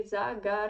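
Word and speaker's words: загорать: same story ga right we say but we write za go right again the same russian phonetic rule or unstressed should be pronounced like a that's why we say zaga right and here maybe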